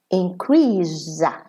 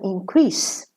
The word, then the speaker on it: increase: Okay, so here in the first column, increase. Second column, increase. So when it's a verb, the S is pronounced za. When it's a noun, the S is pronounced sa.